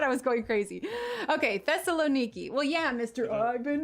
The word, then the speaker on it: Thessaloniki: How did you pronounce it? Thessaloniki. Thessaloniki.